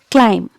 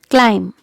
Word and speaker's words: climb: here another word is climb climb here also letter b is silent okay so it's bomb